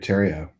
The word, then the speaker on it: Terrio: I think he's probably the only person cool enough to replace Kurt Reeves on a podcast, and his name is David Terrio. Rhymes with stereo.